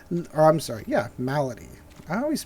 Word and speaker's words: Malady: 9/4 for grunt rooms and for templates of medley I'm sorry yeah malady I always mispronounce this I get that in temple of